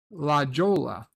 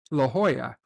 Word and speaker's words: La Jolla: around a place that I was calling La Jolla, California, in San Diego. Only once I heard other people talk about it, it turns out it's La Jolla, but of course it's spelled La Jolla.